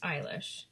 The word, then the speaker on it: Eilish: I know her last name is pronounced Eilish.